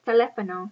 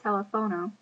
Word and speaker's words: teléfono: The H is silent and it's teléfono, not telefono.